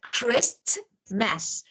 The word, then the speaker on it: Christmas: listen and you learn like Christmas we know that Christmas but we don't pronounce letter T Christmas and for example look at this what is this we normally Rapport Rapport we don't say report Rapport or Christmas Christmas we don't to Chris T is not well so